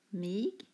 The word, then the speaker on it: mig: Mig uttalas mig.